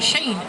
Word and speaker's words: Shane: known as Shane's alley today it's known as Shane place or Shone place I'm told by members of that family that Shane is the correct way to say the name this whole area up